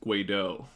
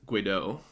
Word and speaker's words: Guedo: But then I found out recently it's Guido. Like I guess my auntie went to Europe or some shit, and it's actually French and it's Guido.